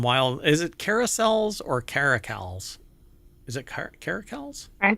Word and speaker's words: caracal: and by the way I think it's a hard se sound so it is caracal so don't work on